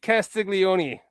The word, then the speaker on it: Castiglione: Pete Castiglione. Pete Castiglione. I can pronounce that name. I got the Italian last name too.